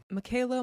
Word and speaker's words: Mekayla: bring Michaela Bali home Michaela Margaret Kim neber gal Bali was born on July 2nd 1999 in Regina sasketchewan and before anyone runs to the comments yes that is how it's correctly pronounced although everything in me